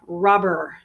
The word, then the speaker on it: robber: person is a robber robber the pronunciation is actually first syllable stress rubber we also saw